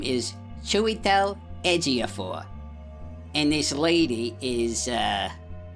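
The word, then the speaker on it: Chiwetel Ejiofor: I need to pause for a second cuz I need to learn a couple of pronunciations over here. Okay. This guy's name is Chewel Edgaphor and this lady is uh Renate Lions.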